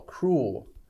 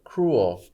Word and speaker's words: cruel: y l u l cruel one syllable or cruel two syllables either way is fine um and someone who